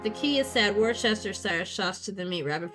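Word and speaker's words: Worcester: There's a town in Massachusetts, Warchester. They pronounce their wooa. Oh, I don't know what it's I call it Warchester sauce and I don't care.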